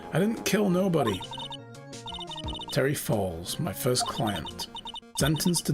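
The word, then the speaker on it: Fawles: quickly the text Scrolls would be pronounced the same as Falls not not Fess oh oh fallsa thank you so this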